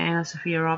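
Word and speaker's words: AnnaSophia Robb: Anna Sophia Robb. Is that how you say her name? Yeah, Anna Sophia Robb.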